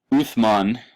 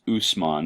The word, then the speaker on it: Uthman: Uthman, that can also be pronounced Usman. It's the transliteration of the same Arabic letter. In some cases is pronounced with an S sound, in some cases pronounced with a TH sound.